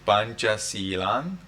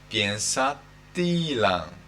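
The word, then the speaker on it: pañcasīlaṃ: We do not read panchasilan, we read piensatilan.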